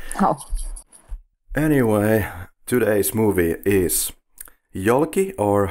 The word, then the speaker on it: Yolki: anyway today's movie is yucky or how do you pronounce that in Russia we also pronounce it yoky okay yeah the same